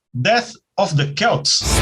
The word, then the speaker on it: Celts: Faixa 2 do disco 2, Death of the Celts. É Celts, viu? Não é Celts, mas se quiser chamar de Celts, pode também, porque a pronúncia lá desse termo é Celts e não Celts.